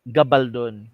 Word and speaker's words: Gabaldon: Saan ba ang stress na syllable nito? Gabaldon or Gabaldon? Actually, Gabaldon. Kasi apelyido to ng assemblyman na si Isauro Gabaldon.